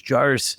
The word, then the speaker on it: JAARS: What does JAARS stand for?